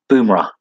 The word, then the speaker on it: Bumrah: Bumrah.